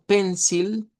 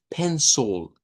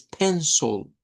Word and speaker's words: pencil: Si usted esto me lo dice como pencil, está mal pronunciado porque me está haciendo una I al final. Y esto debe sonar con una schwa. Y debemos decir, miren, pencil, pencil. ¿Ok? No es pencil, es pencil.